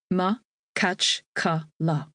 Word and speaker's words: Makhachkala: Makhachkala, the capital of Dagestan, is pronounced Ma-kach-ka-la.